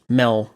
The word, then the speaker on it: Mel: Mel is of course written as meadow but Mel is the actual intended pronunciation of the name if you look at